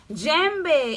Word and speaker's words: Djembe: Yes, Djembe is my name, so the D is silent.